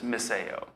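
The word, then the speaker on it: μισέω: speaker but my understanding the phonetic pronunciation of this is miseo and maceo is translated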